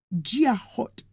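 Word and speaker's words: Dia dhuit: And their greeting is it's spelled D I A D H UI T but pron pronounced Jot.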